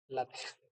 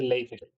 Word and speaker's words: LaTeX: la a ver, usando látex, LaTeX, me acaban de regañar hace poco diciéndome, no se dice látex ni látex, se dice LaTeX.